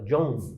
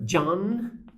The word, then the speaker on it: John: são letras pronunciadas né o nome e do Beatle né John John em geral em português a gente fala John John e deixa isso para um som nazal em inglês é letra pronunciada Então é John na